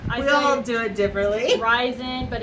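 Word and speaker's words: Rhysand: Ryzen, but it's So- pronounced reason.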